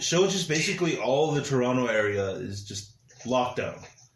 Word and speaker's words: Toronto: and they're like oh toronto oh big big deal here exactly and you said it right because they pronounced the second tee over here we don't toronto toronto around